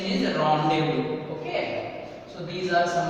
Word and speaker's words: rendezvous: time, at particular place, it is known as rendezvous. Okay, this is very famous word, rendezvous.